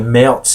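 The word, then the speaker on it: Märzen: of this traditional style the the melts and as it's traditionally pronounced was born so let's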